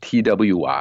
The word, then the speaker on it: Twi: or paramount King and the language is called chewy and it's pronounced Twi and it's pronounced tree and it's the language of the akan or